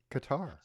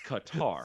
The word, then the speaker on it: Qatar: No, it's tar. Two A's next to each other. It's louder. It's tar. It's not tur. It's tar. It's Qatar.